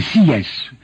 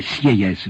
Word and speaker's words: Sieyès: Deuxièmement, sur le droit de vote, c'est Sieyès, quelques-uns appelaient Sieyès, mais je sais qu'ils ont prononcé, que lui-même prononçait Sieyès, un ancien prêtre.